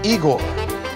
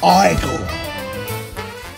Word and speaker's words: Igor: You must be Igor. No, it's pronounced Igor.